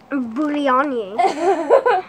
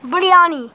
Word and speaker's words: biryani: Biryani. How do you say it? Biryani. Biryani.